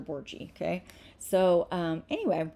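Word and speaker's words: Borghi: So, you say my name, Borgie. It's Dr. Borgie.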